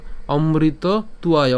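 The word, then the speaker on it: অমৃতত্বায়: এটা কি বন্স্ত বার অন্তস্থ উচ্চারণ কার মত হয় উর মত হয় তাহলে অমৃত উয় উয়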